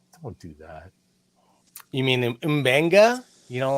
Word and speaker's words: Mbenga: Like It's Starrat, Mbenga. Mbenga. It's Mbenga. Mbenga. How hard is Mbenga. that? Mbenga. It's got a thing in there, and then there's no vowel, and it's probably an African dialect, and so it's Mbenga, right?